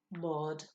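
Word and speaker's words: mbád: in front of it the sound of the b is going to disappear so it will be pronounced mod the b sound will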